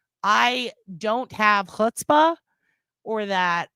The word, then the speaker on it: chutzpah: Is it chutzpah or chutzpah? I know what it is, but it is funny to spell it with a C and watch people go chutz.